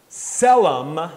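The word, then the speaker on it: צֶלֶם: they'll see it is selem that t is silent selem it is a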